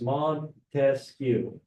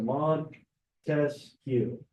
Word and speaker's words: Montesquieu: I break it up into syllables. Okay, so as you're going through each name, I would do this. Montesquieu, right? So Montesquieu. So you have 3 syllables, meaning the 3 branches of government.